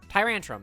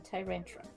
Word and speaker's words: Tyrantrum: Tyrantrum, that's the one. Because there's Tyrant and then Tyrantrum. Yes. It's like Tantrum and Tyrant.